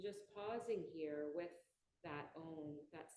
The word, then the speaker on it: Om: When each syllable is pronounced fully, it's spelled phonetically A-U-M, you should feel the